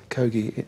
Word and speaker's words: Kogi: the the chief's player is it the GOI is that right the GOI Indians is I'm pronouncing that right uh Ki KI sorry I I'm wrong kogi um the chief he